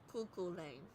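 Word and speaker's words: Cú Chulainn: We are looking at how to pronounce Cuckoo Lane. Cuckoo Lane.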